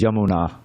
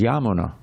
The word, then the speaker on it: Yamuna: The normal pronunciation you find for the Yamuna River is Yamuna, Yamuna River. But here it says Yamuna. The first day is long, the last day is short.